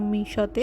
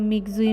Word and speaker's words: Mixue: snacks খেতে চলে আসলাম মিশোতে সারাদিন দৌড়াদৌড়ির পর একটু স্ন্যাক্স বা ঠান্ডা কিছু না খেলে একদমই হচ্ছে না প্রথমে এসেই তো আমি এটা প্রোনাউন্সিয়েশন করতেছিলাম মিক্সজুই মিক্সজুই দেন দেখলাম it's right pronunciation is মিশো pronunciation বাদ দিয়ে মেইন